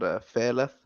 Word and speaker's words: Feleth: I play in a death metal band called Feleth. It's Is that how you pronounce it, Thela? Feleth. That's how we say it.